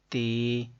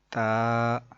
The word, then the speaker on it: ت: تلفظ سے پرہیز کریں یعنی کہ بے، تے، سے، ہے، خے، توئے، زوئے وغیرہ ہرگز نہ پڑھیں بلکہ با، تا، سا، حا، خو، تو، ظو پڑھیں.